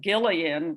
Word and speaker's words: Gillian: pascal's friend gillian and i pronounce it gillian with the hard g and not a j as probably most of